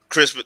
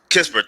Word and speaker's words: Kispert: Crispert. Yeah, I like him. I do like the Moses Kispert.